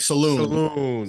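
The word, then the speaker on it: Salaün: How do you pronounce his name? His name, Chris? John Saloon, like Saloon.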